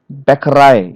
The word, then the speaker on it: Bäckerei: of French origin, okay, they stress the final syllable as in the source language. Final syllables here in agent. The stress is on the T part and the final letter. Agent, accent, Bäckerei.